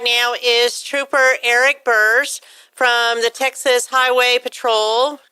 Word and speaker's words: Burse: So I have joining me right now is Trooper Eric Burse from the Texas Highway Patrol, correct?